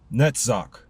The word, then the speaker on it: Netzach: Netzach, which is spelled N-E-T-Z-A-C-H, number 7, meaning eternity.